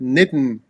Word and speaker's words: Nitin: By the way mitten rhymes with Nitin which is my name.